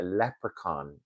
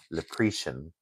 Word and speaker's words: leprechaun: So, we had a leprechaun yesterday. Um, sometimes Americans mispronounce it as leian.